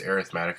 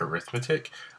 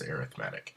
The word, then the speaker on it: arithmetic: It is pronounced arithmetic. I know it looks like arithmetic, but when we talk about sequences in series, we pronounce it as arithmetic.